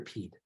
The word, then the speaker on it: Pied: Piper right and like is it pied or Pete phonetically I'm gonna go with well I mean it's like pie impediments that's a great example like pied and Piper have two different spellings but they sound the same yeah but um but